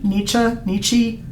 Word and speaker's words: Nietzsche: A lot of people pronounce his name differently. Nietzsche, like just all sorts of different ways. I personally favor Nietzsche because that's the way we pronounced it in grad school.